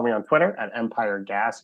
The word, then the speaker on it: Gass: You can follow me on Twitter at Empire Gas, GASS, pronounced gas, but spelled gas.